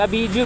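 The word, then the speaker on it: Abejo: A B E G. Umurag Abijo bitaw. Pero Abiho pag pag-pronounce.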